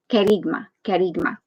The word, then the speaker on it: kerygma: understand on the googles it's pronounced kerigma and um it's a greek word so i'm not greek